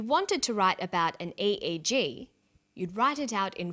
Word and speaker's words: EEG: says and e8g that's an abbreviation we don't pronounce it ich we say a eg a EG stands for electroencephalograph that's a type